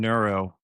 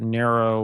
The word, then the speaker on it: Nero: So with I know you mentioned Neuro. Am I pronouncing that right, by the way? Nero. Nero. Okay.